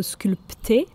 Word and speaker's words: sculpter: It's written with a P, but we don't pronounce it. So sculpter is written S-C-U-L-P-T-E-R. So sculpter, but we say sculpter. We don't pronounce the P, it's silent.